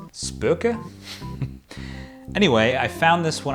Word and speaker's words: SPÖKA: a little rusty but i think it is pronounced spooka anyway i found this